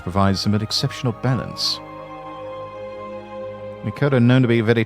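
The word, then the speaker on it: Miqo'te: this is pronounced the Mikot.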